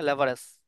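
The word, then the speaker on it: leverage: Okay, লেভারেজ, লিভারেজ, sorry লিভারেজ, লিভারেজ, correct pronunciation লিভারেজ।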